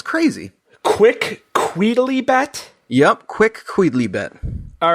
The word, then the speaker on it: quicquidlibet: Quick Queedly bet. Wow. Yeah. Quick The Queedly phonetical bet. spelling is ridiculous, but that, I assure you, is how it is said, how it is pronounced.